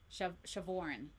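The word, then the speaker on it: Siobhan: the Irish girl that her name is spelled really weird and then the way it's like pronounced it's like what is with you Irish people and the way that you spell your names, man. Shavin.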